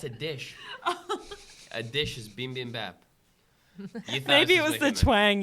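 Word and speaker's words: bibimbap: A dish is beam bam bap.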